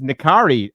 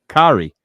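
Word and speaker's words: N'Kari: Um although if you are a hard pronunciation expert, you'll know that the dash the dash pard me the apostrophe makes it a glottle stop. So it should actually be Nari, but that's by the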